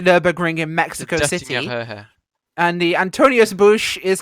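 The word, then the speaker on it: Döttinger Höhe: The Dottinger Ho, Linus somehow pronounces the Dottinger Hohe. The Dottinger Because it's Höhe. apparently the Nürburgring in Mexico The City. Dottinger Höhe.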